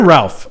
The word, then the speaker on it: Ralph: Ray Fiennes. Ray Fiennes. Is it Ray or Ralph? I always see it's spelled Ralph, but they refer to him as Ray.